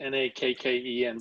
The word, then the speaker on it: Nakken: Her name, by the way, is Naken. Oh. Naken. I'm not sure how you pronounce it. It's Nakken, but her first name's.